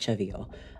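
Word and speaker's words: CeVIO: Um it's pronounced Chvio.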